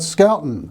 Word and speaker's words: Schouten: name it's ch so the h is silent so it's like school and it's dutch yes it's dutch so